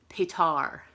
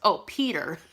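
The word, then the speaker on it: Petyr: For one, with Peter Baelish, he says Petar. And I'm like, Petar Baelish. I'm like, Petar. Who's Petar? Peter. Peter Baelish.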